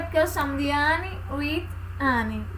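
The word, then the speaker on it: Anne with an E: A pronúncia é essa mesmo, Anne with Anne.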